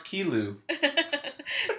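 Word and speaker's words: Qi Lu: fool Mr Lou oh pronounce kilu there you go they actually put it in parenthesis I white people be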